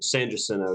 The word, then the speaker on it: San Jacinto: San Jacinto, yeah.